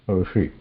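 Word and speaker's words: ऋषि: Same thing when we pronounce Rishi.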